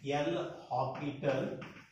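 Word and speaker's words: L'Hôpital: L, here S is silent, L'Hopital rule.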